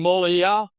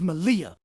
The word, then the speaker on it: Malia: Jason Molia? See, that's your problem right there, Bobby. You don't respect pronunciation. I thought it was Molia. No wonder you boys keep causing chaos on commentary night. It's Malia. Oh, here we go. All right, wise guy, you say it then.